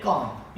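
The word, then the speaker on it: calm: एल और एम जब एल और एम इकट्ठे यूज होते हैं तो हम एल को साइलेंट करते हैं यानी एल के बाद एम एंड में आता है तो एल साइलेंट होता है जिसकी एग्जांपल हम लिखते हैं हमारे पास एक वर्ड है काम तो इसके अंदर जो एल है वो हमारे पास क्या है साइलेंट है हम इसको बोलते हैं काम यानी लेट्स सपोज अगर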